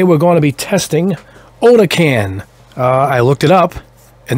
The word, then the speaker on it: OdenKan: I think they separated it so you pronounce it the proper way, but K-A-N, put a C there and it's can, but I did look it up and it's OdenKan.